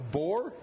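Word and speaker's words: Boer: They're the same breeds, which is a boar, B-O-E-R, boar goat, which is a meat goat.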